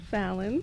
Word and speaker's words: Fallon: Fallon. I thought it was like Alan. Fallon, yes, Fallon with an Allen.